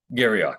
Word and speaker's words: Garrioch: Have a very special guest today, Garrioch. Gary, did I pronounce it right? Garrioch, yes.